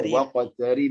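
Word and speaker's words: وَاقْتَرِبْ: Ini jangan sampai dipanjangkan. Kalau dia panjang itu namanya arid li sukun, ya ada yaun berarti di sini. Tidak. Dia dibaca waqtarib langsung. Waqtarib. Langsung. Waqtarib.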